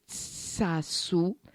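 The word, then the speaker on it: xaxu: a wonderful Basque name, which I will try to pronounce, and if anybody out there is of Basque origin, you will have to forgive me, and it's sasu. Because there's lots of it, with an X.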